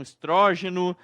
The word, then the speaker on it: estrógeno: Alguns falam estrogênio, outros falam estrógeno. Na verdade, tanto estrogênio quanto estrógeno tá correto. As duas pronúncias estão corretas.